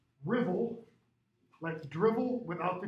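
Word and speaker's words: Ruthwell: stone cross okay called spelled ruth well cross pronounced rivel let's dribble without the d rivel the rebel cross and this is in dumfries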